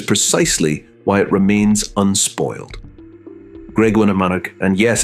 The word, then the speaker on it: Graiguenamanagh: Graiguenamanagh, and yes, it's a mouthful, but the locals just call it Graig.